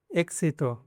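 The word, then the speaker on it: éxito: Between vowels, मतलब अभी ये 21 है, इसके पहला और बाद में वावल्स है, ए और आ है, तब उसको क्स पढ़ना है। फॉर एग्जांपल एक्सामेन, एक्सामेन मतलब एग्ज़ाम, एक्सितो, एक्सितो मतलब एग्जिट नहीं,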